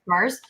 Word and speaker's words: MERS: You pronounce it MERS.